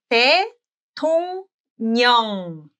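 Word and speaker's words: 대통령: next syllable starts with r, the r is pronounced as 느. n. Very easy. Yes. Yes. Let's look at some examples. dae-tong-nyeong.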